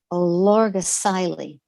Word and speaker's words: Olorgesailie: Here, perhaps 40 miles out of Nairobi, along the baking valley floor, is an ancient site called Olorgesailie. It's Olorges. Oh dear. It has emphasis on two syllables. Olorgesailie, which once stood beside a large and pleasant lake.